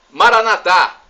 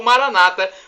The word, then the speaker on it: Maranatha: aramaico dialeto de Jesus Maranata como dizemos nós católicos ou Maranata como dizem nossos irmãos separar Oi gente usou protestantes não importa a pronúncia porque o significado é o mesmo e somos todos irmãos